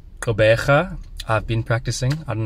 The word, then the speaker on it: Gqeberha: port elizabeth so i i believe it's pronounced kobeja i've been practicing i